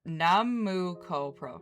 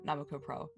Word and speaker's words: 765 Pro: The first US performance by members of the original group 765 Pro, uh pronounced Namuko Pro, Namuko Pro.